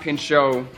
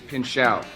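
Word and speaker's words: Pinchot: Bronson Pino hosts on Valentine's Day Don Paro mispronounced my name it is not Pino it is pinou okay so that's out of the way we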